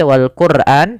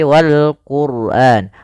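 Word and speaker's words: والقرآن: Qur RO di sini ro tafkhim yaitu ro tebal Jangan dibaca Wal Quran tapi Wal Quran rnya tebal karena didahului dengan huruf damah kemudian P lafal Wal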